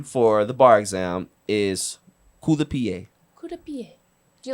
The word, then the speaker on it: coup de pied: Coup de pied.